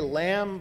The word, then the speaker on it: lamb: so you know say lamb without the move and some of the good readers would say lab they're supposed to say they're supposed to say um laughs because the B is silent folks so if you're a